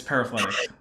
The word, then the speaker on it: paraphyletic: It's paraphyletic. I tend to err on the side of I've absolutely butchered a word Oh, I rather mean, than oh wait, I said it right.